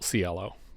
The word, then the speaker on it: Ciello: It's spelt Ciello, but they just say Ciello most of the time.